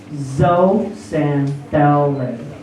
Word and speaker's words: zooxanthellae: zooxanthellae. Oh my God. Zooxanthellae. Zooxanthellae. Zo, it's pronounced zo. Not zoo, but zo.